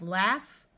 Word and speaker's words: laugh: short o sound cough in these words Au rather than having its normal sound of a will have a short a sound so we have laugh laughing and laughable notice